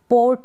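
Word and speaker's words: port: अब जैसे अब इसको पोर्ट है, ये क्या है, पोर्ट, ओ और र, पोर्ट। अब र का साउंड आप आधा देंगे, पोरट, पोरट।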